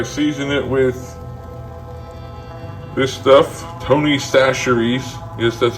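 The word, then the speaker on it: Tony Chachere's: mixed together I season it with this stuff Tony saseries yes that's how it's pronounced not how it's spelled the original Creole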